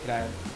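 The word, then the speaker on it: Hiraeth: So the brand name is pronounced as Hirayat. Hirayat. Yeah, Hirayat. That end wala th is th. Th. Hirayat. Yeah. Urdu. No, it's a Welsh word.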